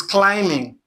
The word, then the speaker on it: climbing: Now, if you have this, okay, this word, it is climbing. Climbing. Climbing, not climbing. Climbing, it's not two syllables. Cli is emphasized, is stressed. Then ming is the second syllable.